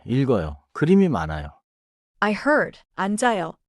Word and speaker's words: 읽어요: 천천히 읽어요. 자연스럽게 읽어요. 읽어요. 좋아요. 읽어요에서는 리을 소리가 앞음절에 남고 기억 소리가 다음 음절로 이어져요.